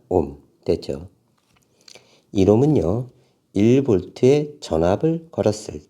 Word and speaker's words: 옴: 옴이라고 읽습니다. 옴.